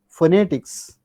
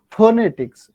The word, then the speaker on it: phonetics: given one stress mark that means compared to or among these three syllables you have to stress on second syllable initially stress mark that means phonetics you say phonetics not phonetics no that means phonetics